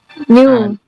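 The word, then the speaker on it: knew: New. No, itu verb 2-nya adalah new. Betul. No. New. New. Bukan new. Bacanya new. Gitu ya. New. Kayak baru.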